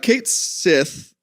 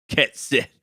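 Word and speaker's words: Cait Sith: pronunciation of the name he first gives you his name and he says it through his megaphone he says it a little bit like like K Sith okay I want it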